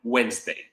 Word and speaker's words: Wednesday: Wednesday. So can you write the word Wednesday? I don't see any, so I'm going to share. So Wednesday. Wednesday is written with the D that's not spoken.